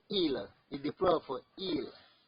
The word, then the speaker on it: ils: This il, although it has s at the end, but you not pronounce the s. You say il is the plural for il.